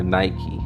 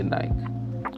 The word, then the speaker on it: Nike: And I had these photos that I found from Nike, or Nike, however you pronounce it. I'm Jamaican, so we say Nike, right?